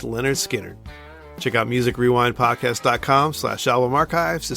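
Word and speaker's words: Lynyrd Skynyrd: Next up, we'll be flying high with number 268, pronounced Leonard Skard.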